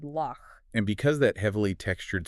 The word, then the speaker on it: loch: So you are literally rubbing air against the back of your palate. You hear it in the German word bush or the Scottish word loch.